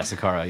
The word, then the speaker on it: Saqqara: pyramids or whatever yes is that how you pronounce it yeah Saqqara yeah which is also like not very well